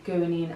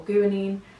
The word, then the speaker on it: guanine: And remember the names of these bases: adenine, thymine, guanine and cytosine.